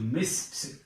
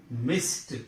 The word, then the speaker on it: missed: But this ed is pronounced as t. Missed. Missed.